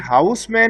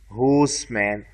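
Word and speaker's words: Housman: अब सबसे पहले ना ये जो इनकी जो स्पेलिंग है बेटा ये जहन में रहे कि यह हाउस मैन नहीं है अगर आप देखे ना ये एई एच ओ यू एस होस मैन नॉट हाउस मैन बच्चे इसके स्पेलिंग में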